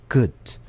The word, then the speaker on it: good: 사실은 으 약한 으 발음이어서 그냥 good 이렇게 약하게 발음이 돼요.